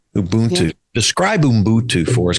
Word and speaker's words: Ubuntu: South Africa called, and help me with the pronunciation. Ubuntu. Ubuntu.